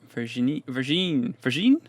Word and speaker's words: Virginie: Virginia. But with no A and an E at the end. Virginie. God knows.